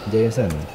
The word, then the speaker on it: Jason: Jason. Bacanya harus Jason.